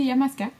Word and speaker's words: Illamasqua: Donc il y en a qui disent Illamasqua, peu importe là, mais moi je dis Illamasqua.